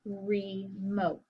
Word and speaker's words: remote: word in the word remote re is an open syllable that's a long e sound you might say well